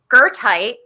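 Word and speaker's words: goethite: my favorite this is this is called gertite which is so fun because it's not spelled this the way it looks did i say that right it's spelled very differently than how you would think it's g o e g-o-e-t-h-i-t so i think that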